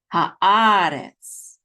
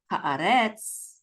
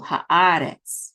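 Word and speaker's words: הָאָרֶץ: So the accent is on ah. So it's haaretz, haaretz, not haaretz at the last syllable, which would be the default, but it's in the second syllable, haaretz, okay?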